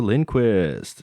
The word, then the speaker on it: Lindquist: guest with us today um this is linquist did I pronounce that right yep that's right hi